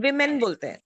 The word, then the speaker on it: women: Women pronunciation is women.